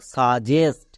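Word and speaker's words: suggest: জি এর উচ্চারণ করব জি এর জন্য কি হই বর্গীয় জো হই জি এর পরে ই আই ওয়াই থাকলে বর্গীয় জো ই আছে তাই বর্গীয় জো এবার ই এস টি এস্ট তাহলে কি দাঁড়ালো বর্গীয় জো প্লাস এস জেস্ট তাহলে পুরোটা কি হলো সাজেস্ট এবার এখানে দেখো ডবল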